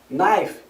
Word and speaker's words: knife: exemplo a gente tem palavras terminadas em k e n no inglês onde a gente não pronuncie o som do k no saber Knife faca ni joelho dorob